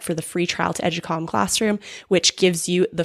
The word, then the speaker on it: Educalme: can sign up for the free trial to Educalm Classroom, which gives you the first unit of